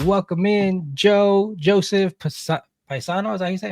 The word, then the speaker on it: Payseno: Pays no. It's like pays no Payseno. attention. That's how you remember it. Pays no attention.